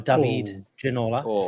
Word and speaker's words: Ginola: and I went for the one and only David Ginola, or David Ginola, if you want to shout.